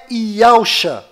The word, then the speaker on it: Yahushua: E a pronúncia é Yahushua.